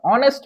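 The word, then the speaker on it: honest: উদাহরণ, Sabbir is অ্যান অনেস্ট person, এখানে আমরা এন বসাইছি। কেন বসাইছি? আমরা এই যে এইচ আছে, এইচ, এইচ এর উচ্চারণ এখানে সাধারণত হয় না, আর হলো এটা অ এর মতো উচ্চারণ, অনেস্ট।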